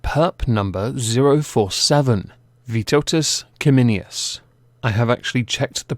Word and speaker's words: Vytautas Kiminius: today we have perp number zero four seven vitotus kimminius i have actually checked the pronunciation it is a lithuanian name yay for